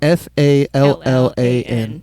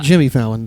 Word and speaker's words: Fallan: And Fallan is Fallan. Correct. Yep. So not like Jimmy Fallon. Fallan. It sounds like Jimmy Fallon, but it's spelled a little different.